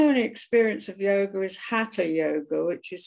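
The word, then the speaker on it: Hatha: receive so my only experience of yoga is Hatta yoga which is spelled h-a-t-h-a and I believe means Sun and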